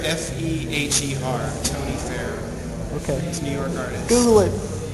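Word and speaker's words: Feher: well it was by an artist named Tony Fair who was who was incredible influence on me spell that Fair f-e-h-e-r Tony Fair okay he's New York artist Google it Google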